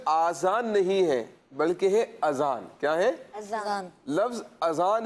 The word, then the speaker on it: اذان: یہ غلطی کرتے ہیں، کچھ لوگ آزان کہہ رہے ہوتے ہیں نا، آزان، آزان یہ تلفظ درست نہیں ہے، ٹھیک ہے پیارے بچوں،